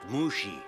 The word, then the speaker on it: Mushi: himself so Mr um Mushi is it it's pronounced Mushi you telling me how to do my job